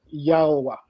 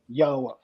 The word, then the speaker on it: Yahweh: That's actually how I pronounced it, Yahweh. So the first time I listened to you on Blood Talk, that's actually what I wanted to hear. That how are you actually pronouncing this? So that's what I wanted to hear. And then I see that it was actually kind of close. So I said, okay, Yahweh, okay. Yeah, your pronunciation of mine are the same.